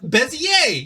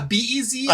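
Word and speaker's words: Bézier: math, Bezier, yeah, B-E-Z-I-E-R. I always thought it was pronounced Bezier curves. No, it's French. He's French.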